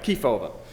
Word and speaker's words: Kefauver: hoping that someone would teach me how to pronounce it yeah okay Kefauver so even in Australian it's going to sound